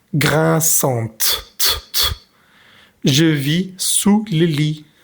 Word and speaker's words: grinçante: Al ponerle la E, pues tenemos que pronunciar la T. Grinçante.